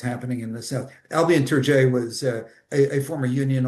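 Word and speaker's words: Tourgée: I mean, they were Albian to I don't know if the name Albian or or Turi as some people pronounce it.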